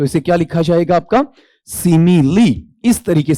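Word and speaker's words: simile: ठीक है, ये ध्यान रखना, इसका उच्चारण क्या बेटा आपका, सिमिली, से साउंड, ई साउंड, मैं साउंड, ई साउंड, ले साउंड, ई साउंड, इस तरीके से पढ़ा जाएगा।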